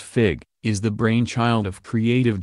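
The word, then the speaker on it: Figue: agriculture to women's development Megan's dressed by fig pronounced fig is the brainchild of creative director Stephanie Vaughn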